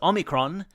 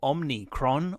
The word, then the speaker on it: Omicron: people people there're chuckling that's because Omicron not Omicron or omnicron or Army CR is not just the